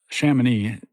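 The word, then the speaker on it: Chamonix: So, you know, Shaman is spelled C H A M O N IX.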